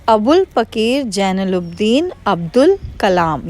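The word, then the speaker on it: Abul: The full name of doctor APJ अब्दुल Kalam was अबुल पकीर जैनुलब्दीन अब्दुल कलाम. सो जो पहले लिखा हुआ है स्पेलिंग वो अब्दुल है, पर उसको हम बोलते हैं अबुल.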